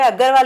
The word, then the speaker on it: Agharwal: Insta पे देखेंगे तो मेरा जो स्पेलिंग है वो AGHARWAL है, अग्रवाल। बोलने में अग्रवाल ही आएगा, बट मैंने उसमें H लगाया।